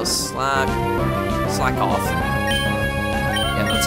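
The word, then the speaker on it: Slakoth: feels i have to wonder why s slag slack off yeah that's how it's pronounced constitutes hp recovery not only that it's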